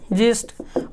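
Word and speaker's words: gist: उसी तरह से कहीं कहीं आप देखेंगे लिखा हुआ है जिस्ट, लोग इसको गलती से गिस्ट पढ़ देते हैं, इसका पढ़ना है क्या, जिस्ट।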